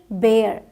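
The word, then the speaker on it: bare: एयर करके बोलते हैं सो बी ए आर ई बेयर बी बी ए आर बार बोला जाएगा बी ए आर ई बेयर बोला जाएगा ठीक और जगहों पे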